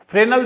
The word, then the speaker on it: Fresnel: या केवल फ्रेजनल्स डिफ्रैक्शन और फ्राउनहोफर्स डिफ्रैक्शन बोल सकते हैं। तो फ्रेजनल भी नहीं होता है, एक्जैक्टली इसका जो प्रोनाउंसिएशन होता है वो फ्रेनल होता है, ठीक।